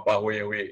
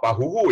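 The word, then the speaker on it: pāhoehoe: Pahue Hue, sorry, bukan Pahuhu, dibacanya jadi Pahue Hue, Pahue Hue.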